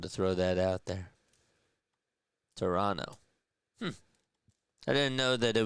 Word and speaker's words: Toronto: because people say Luke Toronto. Yeah. It's more of a way that locals pronounce it. You can tell when someone isn't from here when they have the hard the the hard second T.